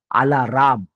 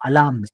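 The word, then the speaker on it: alarm: काय म्हणतात माहिती का आला राम तो आला राम काळा राम गोरारा राम नाहीय तो अलम अलाम र सायलेंट आहे अलाम त्याचप्रमाणे पार्किंग म्हणतात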